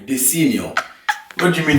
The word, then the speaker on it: Desenio: No, you're not from Italy, so you don't know how to pronounce the Italian way. Desenio. What do you mean Desenio?